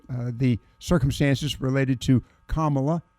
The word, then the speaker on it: Kamala: the circumstances related to kamla as opposed to Kamala but kamla Harris and thank